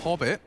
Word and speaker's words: Hobbit: have a fight here Hobbit rhymes with popit like the flashes will